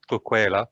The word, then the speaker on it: Tugela: in south africa and in local language it's pronounced as coquela something like that and it means wow